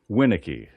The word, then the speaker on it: Winiecki: Can you pronounce that tennis player's name? Now, what's your last name again? Winnicki. Winnicki.